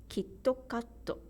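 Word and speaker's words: キットカット: bits kakko another example KitKat in English is two syllables two beats kid cupped in Japanese the rhythm is kitokato and there are two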